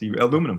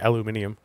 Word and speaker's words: aluminium: Aluminum foil, as a matter of fact. or if you're in the UK, aluminium.